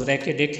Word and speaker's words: ریکوڈک: پر واقع ہے۔ مقامی لہجے میں اس کا تلفظ ریکوڈک ہے، جس کے معنی ریت کے ٹیلے کے